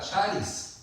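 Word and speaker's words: χάρις: Tienen que aprender como la palabra charis, charis. Charis o charis, lleva acento en la A, parece. Si lleva acento en la A sería charis.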